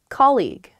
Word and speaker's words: colleague: colleague colleague yes colleague many of my students struggle with this they say colleague or they say call you or something because the spelling of this word is really really strange there's that g-u-e at the end or more commonly i